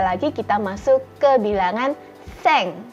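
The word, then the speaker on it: 千: Kemudian 900 kyu hyaku dan 1000 ini sudah berbeda lagi, kita masuk ke bilangan seng. Jadi bukan ju hyaku ya teman-teman, tetapi seng.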